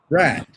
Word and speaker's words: Pratt: It is Chris Pratt. Pratt. Like the college.